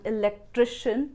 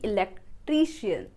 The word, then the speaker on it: electrician: We call this tri as a tree and pronounce the word wrong. Could you please call an Electrician? Could you please call an E-lec-tri-shn not Elek-tri-tian?